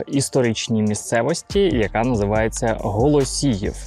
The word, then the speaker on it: Голосіїв: тотального з росіїщення Києва багато людей називається район Голосієво але українською мовою так неправильно говорити тому якщо ви так ще говорите забувайте треба вимовляти голосіїв вперше голосіїв згадується ще